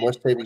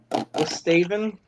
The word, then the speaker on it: West Haven: I love the ones who sit there and pronounce it like that. I always make fun of them. I don't know. You'll hear them sit there and call it Westaven, all in one word.